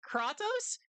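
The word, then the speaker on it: Kratos: Kattos. That's how they say his that's how his name is pronounced in in the game.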